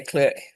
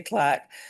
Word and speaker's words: clerk: I know Americans say clerk, but um I always get told that I'm saying it wrong, but that's In British English, we say clerk.